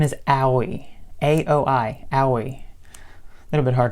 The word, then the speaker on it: Aoi: A-O-I. Aoi. A little bit hard to pronounce, but he meets him, and a bunch of incidents happen, and he's completely silent.